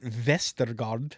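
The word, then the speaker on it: Westergaard: sure and you know D he pronounces it vestard could be told authorities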